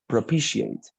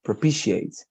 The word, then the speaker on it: propitiate: here the the pronunciation it's propitiate pro p she ate like this propitiate i say propitiate okay is that clear